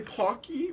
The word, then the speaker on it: Pocky: Is it it's pocky. Pake? It's pocky. It's It's pronounced Pocky?